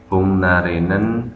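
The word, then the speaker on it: 복날에는: Bungnarenen samgyetang을 먹어요. Cara bacanya di sini bungnarenen, karena huruf mati G ketika bertemu huruf mati N maka dia harus dibaca sengau.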